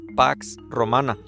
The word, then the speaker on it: Pax Romana: el en el griego antiguo se pronunciaba sino como Bueno lo más cercano pax romana pero era una falsa